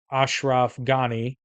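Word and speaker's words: Ashraf Ghani: Taliban deal and on March 1st Afghan president Ashraf gani I believe it's how you pronounce it rejected the prisoner exchange saying quote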